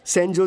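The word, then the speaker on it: Sanjose: O sorry sorry sorry sorry sorry सनोजे एस ए एन जे ओ एस ई इसकी spelling यही है ना? लेकिन इसमें जे साइलेंट रहता है। इसलिए इसे सैनोजे बोलते हैं।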